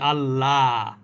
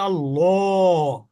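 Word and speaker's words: الله: অথবা পেশ থাকে তাহলে সে আল্লাহ শব্দটা ল এর মতন উচ্চারণ করতে হবে যেমন দেখেন এখানে আল্লাহ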